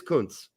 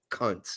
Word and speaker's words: Kuntz: But it is Kuntz. I mean, and not cunts. It'd be bad if it were cunts, but they pronounce it Kuntz.